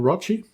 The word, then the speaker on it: Rochi: I'm in the process of talking with my man Rochi, who rhymes with crutch, about some Sisters of